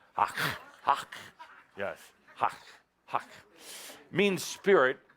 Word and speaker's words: hak: But the origins are, the word hak means spirit in action. Spirit in experience. Hak. It's an ancient word. And you have to say it kind of like you're spitting. Hak.